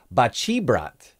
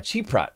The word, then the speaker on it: Baceprot: been saying wrong rock metal band voice of bachibrat is how you actually pronounce it this one's a Rage Against the